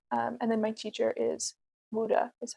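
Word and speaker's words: Wu De: The lineage that I study in doesn't have a name other than it's from Global Tea Hut, and then my teacher is Wuda, is how you say his name.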